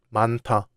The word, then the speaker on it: 많다: In 많다, the final 히읗 is followed by 디귿, so 디귿 becomes 티귿. That's why we pronounce it 많다.